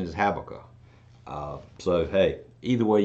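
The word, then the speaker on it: Habakkuk: I've always been taught to pronounce it as habaka the correct pronunciation is habaka uh so hey either way you say it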